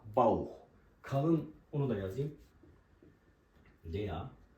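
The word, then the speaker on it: Bauch: da Bir diğer örnek deya bauh mesela karın demek deya bauh kalın onu da yazayım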